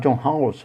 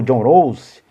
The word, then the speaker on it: Rawls: Tem um filósofo norte-americano, tem não, que ele já é falecido, chamado John Rawls, ou John Rawls, né? Alguns pronunciam John Rawls, outros pronunciam John Rawls.